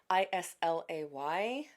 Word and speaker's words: Islay: And again, those of you who are starting your whiskey journey, I S L A Y, that island, it's pronounced Islay, and it's most well-known for its heavily peated um Scotch distilleries.